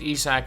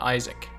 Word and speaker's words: Isaac: East sac Bunga yes it is pronounced East sac not Isaac so Bunga is a